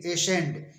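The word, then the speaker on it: ascend: से एसेंड ए एस सी ई एन डी एसेंड एसेंड मीस चढ़ना इसी तरह तरह से डिसेंड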